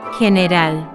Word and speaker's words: general: General, general, general. It is with the throaty.